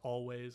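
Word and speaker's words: Alvvays: for googling reasons like the two V's make a W it makes it look like but it's pronounced always and not always think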